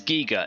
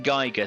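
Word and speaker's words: Giger: I think the correct pronunciation of his name is Giga, if I'm correct, but I grew up saying Geiger, so it just kind of comes out.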